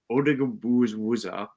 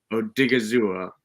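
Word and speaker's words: Odighizuwa: But I'll go with, I'm going to again butcher the name. I apologize. But Odigabuzwa. Odigizua. Odigizua.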